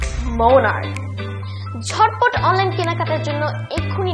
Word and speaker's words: Monarch: জুবরান, এটার উচ্চারণ কি? মুনাচ। ও ছোট মানুষ, এরকম ভুল আমরা অনেকেই করে থাকি। এটার রাইট প্রোনাউন্সিয়েশন হচ্ছে মোনার্ক।